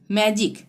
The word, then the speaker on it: magic: जैसे MAGIC, मैजिक। मैजिक में जी के बाद क्या आ रहा है? जी के बाद आई आ रहा है। ठीक है, जो हमने यहाँ बताया था। ठीक है, तो जी के बाद आई आ रहा है तो यहाँ पे ज का उच्चारण होगा। हम कैसे बोलेंगे? मैजिक। ज आ रहा है ना, जिक, मैजिक।